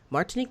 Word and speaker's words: Martinique: How you doing, Martinique? And tell me if I'm probably saying your name wrong, right?